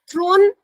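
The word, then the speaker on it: thorn: थ्रोन आप बहुत अच्छा बोल रहे हैं लावण्या, लेकिन थ्रोन नहीं होगा बेटा, सिंहासन। यहाँ पर कांटा का मतलब है थॉर्न।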